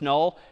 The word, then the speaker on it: NUL: N U L pronounced null is just the null terminator back slashzero.